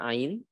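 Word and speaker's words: ع: atau kesalahan yang fatal yaitu pengucapan Ain jangan sampai menjadi Hamzah yang hidung Au tidak au tapi tenggorokan Tengah khawatir diisi adanya seperti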